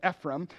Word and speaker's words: Ephraim: one then the men of of Ephraim or you could pronounce it Ephraim gathered together crossed over